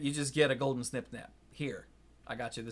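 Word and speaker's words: Snip-Snap: And that's Snip Snap. That's how you pronounce it.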